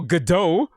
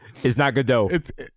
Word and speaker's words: Gadot: I was telling my girl, as I was telling about homegirl Gal Gadot, Showtime was like, it's not Gadot. It's Gadot. I thought it was Gadot too because from Waiting for Gadot.